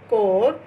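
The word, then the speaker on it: corps: Next है you should join the police cadet कोर कोर्स, ये आप यहाँ पे पी साइलेंट है, कोर्स वर्ड ही इसको पढ़ना है, कोर्स।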